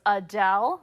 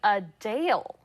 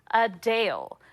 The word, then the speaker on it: Adele: we've been saying her name wrong while many pronounce it just like we do as Adele the singer says it's actually a Dale a Dale she noted the correction during a recent q